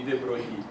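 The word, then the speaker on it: de Broglie: um a French scientist whose name tend to be destroyed when Americans try to pronounce it even way worse than mine. So sometimes I think anyway if you want to pronounce him correct that would be Droi.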